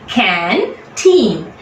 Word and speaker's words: canteen: We are taking 2 breaths with canteen. Now always EEN ending words on the right hand side, you count in the first syllable from the right will be told more strongly.